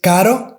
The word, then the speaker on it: caro: So car, expensive, in Spanish is carro, caro. So you can see the difference. Here we have the soft R, which is kind of pronounced like the D sound in American English.